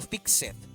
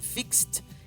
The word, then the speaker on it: fixed: Ahora, quiero que notes que pronuncié fixed y no fixed. Y en un momento te voy a explicar por qué pronuncié fixed y no fixed, ¿ok?